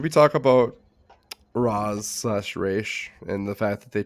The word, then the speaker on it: Ra's: Like Batman, it's always been Right. Raish. Always been Raish. First live action adaptation, Roz.